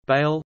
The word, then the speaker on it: Bâle: Basel, also Bâle, German pronunciation, Ba-Z-L, French, Bâle, B-L, Italian, Basilea, Basilea, is a city in northwestern Switzerland on the River Rhine.